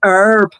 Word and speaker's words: herb: It's the way they say herb. Why not say the h? Why have the h there if they're not going to say it?